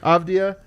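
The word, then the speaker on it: Avdija: Avdia. Avdia.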